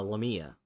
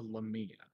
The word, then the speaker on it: lamia: A La Mia l-a-m-i-a I guess that's how you say it lamia lamia okay I wasn't sure I mean that might be a way to pronounce it yeah probably in certain areas like that's how you say it but yeah yeah I've always heard it lamia thanks to a handful